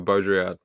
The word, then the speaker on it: Baudrillard: I just remember Richard's guide for my pronunciation for Baudrillard.